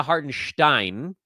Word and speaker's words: Hartenstein: the media guide has their broadcast has their name wrong so I say a hearten Stein okay it's fine all you got to do